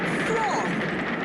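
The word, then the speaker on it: Froy: Freud rhymes with joy.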